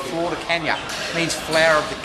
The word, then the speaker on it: Flor de Caña: There's a rum from Nicaragua called Flor de Caña. It means flower of the cane. Okay. If you don't say it right, it means flower of the dog.